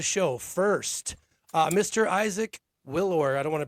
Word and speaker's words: Willour: welcoming to the show first uh Mr Isaac Willow I don't want to pronounce your last name incorrectly did I pronounce that correctly Willow you're good willow Isaac Willow uh he's an